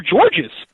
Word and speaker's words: Georges: First thing I tell you, in Canada, the S is silent. Oh, okay. Got it. Okay, silent. very important. Just like the E in silent.